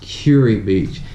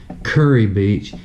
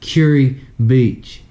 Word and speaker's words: Kure Beach: Beach and it's pronounced Kure Beach it's not pronounced curry Beach curry his [ __